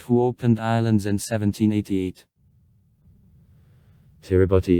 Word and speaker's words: Kiribati: opened islands in 1788 tiribotti is a local pronunciation of the english word gilbert's the traditional name of the gilbert islands tutangar hungaroo the first british settlers came on islands in 1837.